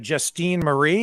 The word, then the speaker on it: Justine Marie: And next up, I believe we have Justine Marie. Is that, am I pronouncing your name correctly?